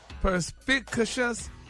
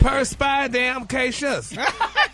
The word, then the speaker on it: perspicacious: Ain't no damn in there, There's Gary. no damn, and I don't see an R Perspit. either. What? You said perspire. Gary. No, it's perspit. Perspicacious. No, perspicacious. Perspicacious. There you go. There you go. But make it like all one word.